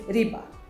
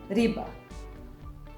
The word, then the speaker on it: riba: it, but it is riba. Riba. Riba. And riba means fish. So fish is riba. Fish. And this R, we pronounce it like in English word red, it is R.